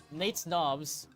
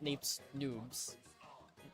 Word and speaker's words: Nate's Knobs: Number six, Nate's Knobs. Yes, that's how they they named their team, by the way. Not Nate's Noobs. It's Knobs. So, I have to pronounce that way.